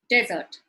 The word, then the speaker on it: desert: If you look at the image on the right, it is right before desert. So if I were to speak to someone and accommodate the wrong stress, the meaning changes completely.